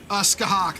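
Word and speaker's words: Scáthach: Skahak. shit. Skahak, that's how you pronounce it.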